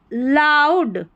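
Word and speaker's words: loud: heard a इ ए का उच्चारण अ है यहां पर इस स्पेलिंग में heard a लाउड ओ यू का उच्चारण आउ है लाउड सी आर को क्र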